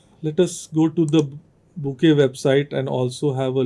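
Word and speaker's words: Bokeh: of visualizations overlapping Ridge plots and so on Boke is another such Library which is primarily or sorry this is pronounced as B Bou is another Library which is browser based although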